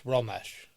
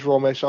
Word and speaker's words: Romesh: It's Ramsh. It is Romesh.